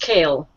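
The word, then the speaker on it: Cael: It's pronounced kale. It like is kale. Lettuce, yeah. Like vegetable.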